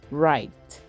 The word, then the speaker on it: write: starts with k again we have the word write it doesn't start with r it starts with